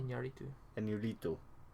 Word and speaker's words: Iñárritu: Which is, I mean, that actually might be why Iñárritu, how we pronounce his name now? Iñárritu.